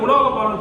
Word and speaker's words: உலோகபாலன்: நாம லோகபாலன் தான் சொல்லுவோம். இங்க என்ன சார் நீங்க உலோகபாலன் சொன்னீங்கன்னா தமிழ்ல சில எழுத்துக்கள் முதல்ல வரக்கூடாது. ஆமா, அதனால அதுக்கு இணையான உச்சரிப்பு வரக்கூடிய சொல்ல முதல்ல போட்டு லோகபாலனுக்கு உலோகபாலன் இருக்கும்.